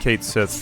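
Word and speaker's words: Cait Sith: And I should specify, I mean, Kate Sith for people that don't know, because that's apparently how you are supposed to pronounce it.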